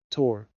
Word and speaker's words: Thor: to take care of she pronounced it tor Thor oh you've named a